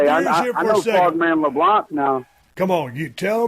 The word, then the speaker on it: Leblanc: about it, it's Frogman Leblanc. The C is silent, so you got to say Leblanc, not LeBlanc.